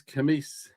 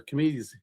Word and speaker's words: Cimeies: So, um the 66th spirit of the Goetia is Camis or Camies. Camies. Uh that's Yeah, Camis is usually Camie. Now Camis is how I've always heard it pronounced.